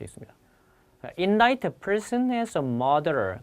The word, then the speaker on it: indict: 그 다음에 지난 시간에 공부하셨던 얘는 발음이 indict고요.